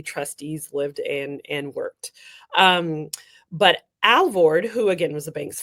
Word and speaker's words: Alvord: Am I pronouncing his name correctly? Alvord. Alvord.